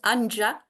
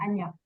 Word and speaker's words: Anja: Donc, ça s'écrit, beaucoup de Français le prononcent Anja, mais ça se prononce Non, c'est Anya. Anya.